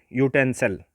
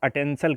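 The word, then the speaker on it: utensil: अब जैसे यूटेंसल, तो इसको आप अटेंसल कभी कभी बोल जाते हैं, तो अटेंसल बोलेंगे तो फिर आप प्रोनाउंसिएशन सोचेंगे आ से है, तो आ से है तो फिर आप अन लगाना शुरू करोगे, तो जब अन लगाओगे तो वहीं गलत हो जाएगा।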